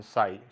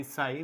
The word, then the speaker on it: psi: phi and stream function psi. So this symbol is called as phi, phi, phi, and this symbol is called as psi, psi, psi, where p is silent. So it is called as psi.